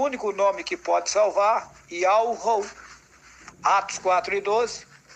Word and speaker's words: Yahweh: E daí o Altíssimo mostrou para mim, me fez saber a pronúncia do seu nome, Yahweh.